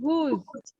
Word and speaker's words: whose: Pronunciation is the same.